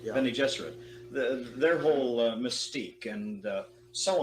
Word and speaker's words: Bene Gesserit: And when Akima says Hopi land, Bene Gesserit, you pronounce it? Bene Gesserit, yeah. Bene Gesserit.